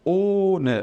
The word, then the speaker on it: ohne: Então, vendo essa letra H aqui depois do O, ela prolonga o tempo em que eu devo ficar pronunciando o O ali. No caso, ele vai ser um O fechado e ele vai ser longo. Então, eu falo ohne, demorando um pouquinho mais, tá bom?